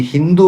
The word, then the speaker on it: ಹಿಂದೂ: ಸಿಂಧು ನದಿ ತೀರಕ್ಕೆ ಬಂದರಂತೆ ಅಲ್ಲಿ ಇದ್ದ ಜನಗಳು ಆ ನದಿಯನ್ನ ಕುರಿತು ಸಿಂಧು ಸಿಂಧು ಅಂತ ಉಚ್ಚಾರಣೆ ಮಾಡ್ತಾ ಇದ್ರು ಬಂದು ಪರ್ಷಿಯನರಿಗೆ ಸ ಇದೆಯಲ್ಲ ಅದನ್ನ ಉಚ್ಚಾರಣೆ ಮಾಡಲಿಕ್ಕೆ ಆಗಲಿಲ್ಲ ಅವರಿಗೆ ಸ ಉಚ್ಚಾರಣೆ ಮಾಡಲಿಕ್ಕೆ ಆಗದೇನೆ ಅವರ ಅದನ್ನ ಹ ಅಂತ ಕಿವಿ ಕೇಳಿಸಿಕೊಂಡುಬಿಟ್ರು ಆ ಪರ್ಷಿಯನ್ರು ಅವರು ಅದನ್ನ ಹಿಂದೂ ಅಂತ ಉಚ್ಚಾರಣೆ ಮಾಡಿದ್ರು ಇಲ್ಲಿ ಮೂಲ ನಿವಾಸಿಗಳು ಸಿಂಧೂ